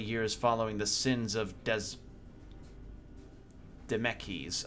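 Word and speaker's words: Dzemekys: following the sins of Des meckies I'm gonna say demeki's I think the Z is Silent not wanting to further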